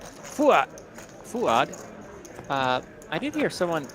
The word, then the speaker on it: Fuat: So, is that how you say Fuat with a soft D? Fuad. Fuad. I did hear someone pronounce it that way earlier today. Fuat.